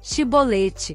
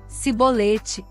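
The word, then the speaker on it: Chibolete: E dizendo ele: não, então lhe diziam: dize, pois, Shibolete. Porém ele dizia: Sibolete, porque não o podia pronunciar bem.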